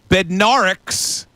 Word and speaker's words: Bednarik: Going way back, Chuck Bednarik's.